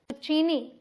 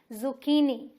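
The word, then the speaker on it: zucchini: important turn जिसे की अगर आप बोल दें चीनी तो गलत हो जाएगा यहां पर ये जो है इसे हम के प्रोनाउंस करेंगे तो ये क्या है जुचीनी और स्ट्रेस कहां दे रहे हैं देखिए की पे नो जुचीनी जैसी सब्जियां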